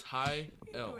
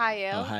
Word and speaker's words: Hayel: it's High L, everybody. Oh, Hayel.